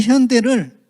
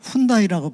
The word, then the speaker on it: 현대: 우리 현대를 미국 사람들은 훈다이라고 불러요. 훈다. 영어로 현대라고 썼는데 미국 사람들이 하니까 훈다예요.